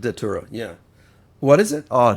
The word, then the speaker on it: Datura: What's the Tura? How do you spell it? I believe it's a psychedelic out of India that's extremely with dangerous. With a D. Datura, yeah.